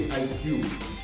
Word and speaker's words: iQue: O IQ Player, e antes que você me pergunte, se escreve assim mesmo, mas se lê IQ.